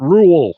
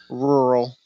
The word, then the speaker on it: rural: Rule. Is that how you say it? Rural. Rural? Yeah. Oh my god, I'm turning into Chris Farley right on the back.